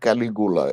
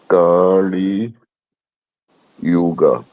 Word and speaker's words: Kali Yuga: Like, no, it is not Caligula. It is Kalyuj. I'm going to write it here. Kali Yuga.